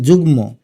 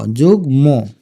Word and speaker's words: যুগ্ম: লিখলাম যু তারপরে গ যুগম মকারে মার উচ্চারণ যুগ্ম এখন হসন্ত না দিলে হয়ে যাবে যুগম আর হসন্ত দিলে হবে যুগ্ম এটার উচ্চারণ কিন্তু অজ্ঞান